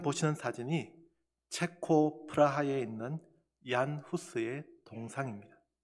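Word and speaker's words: Jan Hus: 헤른후트에 대해서 말씀드리려면 얀 후스에 대해 먼저 말씀을 드려야 합니다. 영어로 표기하면 존 후스가 되지만 이 후스가 체코 사람이기 때문에 과거에는 보헤미안 왕국의 사람이었기에 그 나라의 발음 그대로 사용하여 얀 후스라고 부릅니다.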